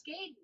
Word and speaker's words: Gaiden: My wife's correcting me on my pronunciation of Ninja Gaiden. It's Gaiden.